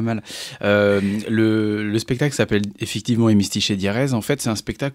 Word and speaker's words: Hémistiche et Diérèse: Déjà, vous l'avez bien prononcé, c'est déjà pas mal. Le spectacle s'appelle effectivement Hémistiche et Diérèse.